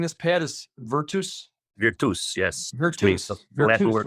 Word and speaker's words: virtus: The correct way of pronouncing this, Pat, is virtus.